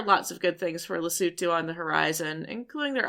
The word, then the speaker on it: Lesotho: We play in Loto, which is Americanized. It's actually properly pronounced Lutu.